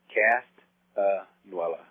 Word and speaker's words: Castanuela: It's kind of like music. I used to break it up in measures. Castanuela.